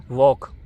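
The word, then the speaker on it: walk: हम इसको पढ़ते हैं वॉक इसको हम बोलते क्या है वर्क बोलते हैं लेकिन जो वैसे अगर तेज देखा जाए तरीके से तो ये वॉक हो गया तो इसमें एल साइलेंट होता है तो ये साइलेंट वर्ड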